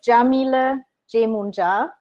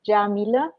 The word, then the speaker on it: Yamile Yemoonyah: know who you are my name is Jamila Jamuna that's how how you pronounce it I know people always ask me it's Jamila and I'm happy that